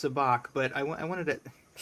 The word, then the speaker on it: Sabacc: I know it's pronounced Sabacc, but I wanted to.